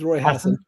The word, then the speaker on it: Roy Hassan: It's Roy Hassan.